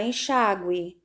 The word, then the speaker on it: enxágue: Na palavra enxágue. Enxágue. Sílaba mais forte, chá.